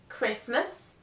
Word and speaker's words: Christmas: words in which the letter T is not pronounced the list is the following Castle Christmas fasten listen often although